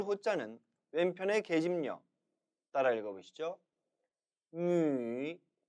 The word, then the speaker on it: 女: 女, 女. 기억하십니까? 중국어 모음에 있어서 위 모음은 한국어의 위와 달리 처음부터 끝까지 입술이 움직여서는 안 된다고 했죠?